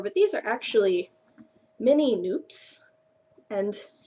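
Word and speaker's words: nupps: these are actually Mini noops and it looks like nups but it rhymes with soup so they're called noops um and I hadn't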